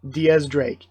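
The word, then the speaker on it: X Drake: been around in the series for a while Diaz Drake it's it's always been Diaz Drake the whole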